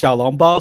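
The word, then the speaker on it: 小籠包: Xiaolongbao? Yeah, it's actually pronounced Xiaolongbao.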